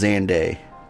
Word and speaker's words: Xande: uh zand's Calamity also I did learn it is pronounced xande so I've been saying it wrong this whole time survivors stood amidst the